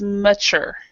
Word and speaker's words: mature: it means that the the stress is in the last syllable so this is mature so so the so